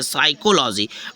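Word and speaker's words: psychology: एल ओ जी वाई तो यहां पर पर पी क्या है ना साइलेंट हो गया है ठीक है यहां पर क्या है यहां पर पी साइलेंट हो गया यहां पर पी साइलेंट हो गया जिसके नीचे अंडरलाइन तो ये पढ़ा गया यहां एस वाई से साइकोलॉजी बट आपको पी लिखना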